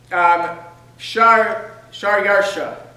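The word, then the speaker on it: Xšayāršā: spelled however that is, but it's pronounced Shar Yarsha.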